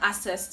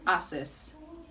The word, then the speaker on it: access: day it goes like this i don't have access to the money assess this word is commonly pronounced assess but the right to pronounce this word is